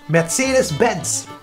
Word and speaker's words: Mercedes-Benz: think it sounds so but the actual name is matheus matsyas bents wait really betsy dispense